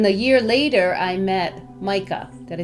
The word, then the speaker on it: Meike: ago and then the year later I met Micah did I say it right good wonderful cuz